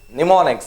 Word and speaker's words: mnemonics: Next it is mnemonics. See, our own mnemonics. It has a silent letter, okay?